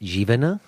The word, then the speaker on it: Jivana: all let me just ask your name is pronounced jiven yes you right okay good because I I